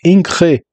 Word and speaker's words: Ingres: comentário breve é o Jean August Dominique inre né que se fala eu não falo